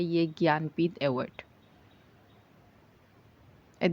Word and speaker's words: ज्ञानपीठ: ज्ञानपीठ award पर move on करते हैं। तो 2025 में 60 6 एडिशन ऑफ ज्ञानपीठ अवार्ड हुआ। इसको प्रोनाउंस करते हैं ज्ञानपीठ।